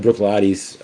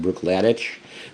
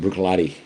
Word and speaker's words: Bruichladdich: really am really um really a fan of Brooklotti's. Uh, uh, and again, that's how it's usually pronounced. It looks like Brook Ladic, but Brooklotti.